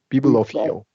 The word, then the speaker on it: bibliophile: She's a bibliophile. So we got a long I here, we got a long E here, and a long O.